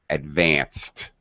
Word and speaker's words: advanced: So all unvoiced verbs that end with an unvoiced sound, we pronounce the ed as a t, not an extra syllable. Advanced.